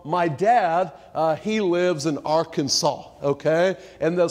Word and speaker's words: Arkansas: those old laws because they didn't want to be associated with Kansas they didn't want to be the other Kansas and so it was called Arkansas actually it's an old